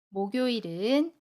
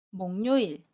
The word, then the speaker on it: 목요일: 일 이라고 발음하지 않아요 목요일은 목 요 일 이라고 발음 해요 목로 일 이라고 발음하지 않습니다 등 요일을 금요일 이라고 발음